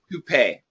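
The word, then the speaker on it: toupee: And the pronunciation, I know the spelling is bad, but the pronunciation is like this. Tupe.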